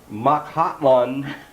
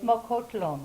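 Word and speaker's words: Mokhotlong: I'm going to tell you how I pronounced it. Makhatlon. And you said it's how? It's Mokotlong. There.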